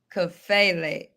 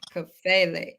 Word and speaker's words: Kafele: So let's get the name right, because sometimes people just continue to pronounce names. So you said correct? and the last name? Kafele. Kafele. Okay, Kafele.